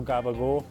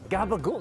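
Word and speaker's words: capicola: And before you guys like try to dunk on Italian Americans for pronouncing it incorrectly, I'm pretty sure that's how people in Naples would also pronounce it.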